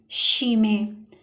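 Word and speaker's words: Chemie: तो यहाँ पे लफ्ज़ बनेगा शीमे, और उर्दू में डेफिनेट इसको केमिस्ट्री कहते हैं और इंग्लिश में भी केमिस्ट्री ही प्रोनाउंस होता है।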